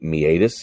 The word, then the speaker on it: meatus: then of course the meatus and you can see the phonetic spelling is right here me at us so you do put the accent on the a and that is a